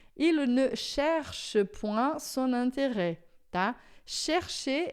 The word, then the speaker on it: intérêt: A pronúncia vai ficar an, porque é IN, esse T é sempre fechado, porque tem o acento agudo, e é com o E aberto, porque tem o circunflexo. Só indica que tinha o S, mas a pronúncia é aberta.